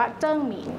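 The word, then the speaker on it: 鄭明: ของ รัชกาล ที่ 4 นะ คะ อ่าน ว่า เจิ้ง หมิง นะ คะ อย่าง ที่ เมื่อ กี้ ที่ เล่า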